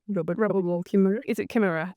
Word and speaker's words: Kimmerer: I've read a lot by the botanist, I'm probably going to pronounce her name wrong. Robert Kimmerer. Is it Kimmerer? Kimmerer.